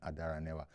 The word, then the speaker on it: Adaranewa: It's actually first name and then Adaranewa.